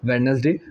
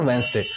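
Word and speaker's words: Wednesday: को क्या हो जाएगा वेडनेसडे, मेरा आंसर क्या हो गया वेंसडे, एक्चुअली डी साइलेंट होता है तो वेंसडे, आंसर क्या हो जाएगा वेंसडे।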